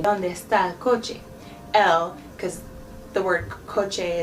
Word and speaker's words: coche: But the word for car is coche.